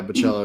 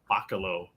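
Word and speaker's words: Bachalo: year at Heroes and Is that how you say his name? Yeah, Bachello. Yeah, because my whole life it was like bakalo.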